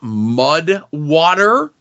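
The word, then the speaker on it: MUD\WTR: this one that's called Mud water and water is like spelled with none of the vowels in it so it's like mud wtr okay it's essentially a coffee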